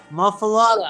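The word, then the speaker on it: muffuletta: A very funny name, hard to pronounce. Muffaletta. Muffaletta.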